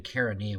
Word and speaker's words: Chaeronea: I had should have been Chaeronea was the battle that Macedon defeated.